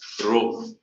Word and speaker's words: rho: sign of density rho it's pronounced as rho so density symbol is